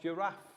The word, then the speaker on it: giraffe: the first letter of giraffe g but it sounds like j because giraffe has the soft g the giraffe is the